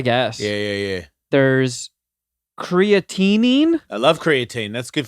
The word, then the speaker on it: creatinine: yeah yeah yeah there's creatinine i love creatine that's good for your muscles it's got an extra syllable it's not creatine it doesn't mean it's